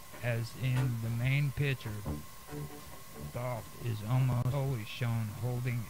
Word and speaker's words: Thoth: Thoth, perhaps pronounced Jahati or Thoughty. I call him Thoth. I've heard other people call him Toth, but I call him Thoth just because that's the way it sounds.